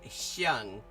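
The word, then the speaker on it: 香: loan word like that hang is also the same hang that you would see um which is pronounced xang uh in Mandarin in xang gang as in Hong Kong fragrant Harbor yeah yeah Nam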